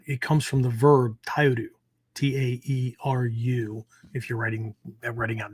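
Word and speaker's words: 耐える: This kanji, we pronounce it Tai, but it comes from the verb taeru, Taeru, if you're writing out notes, right?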